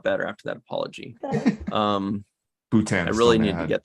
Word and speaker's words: Bhutan: rules about wrestling okay the way to pronounce it according to Google is Bhutan you're right Emery good